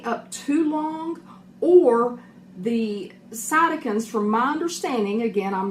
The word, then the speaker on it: cytokines: I'm going to mispronounce it. It's cytokines, cytokines.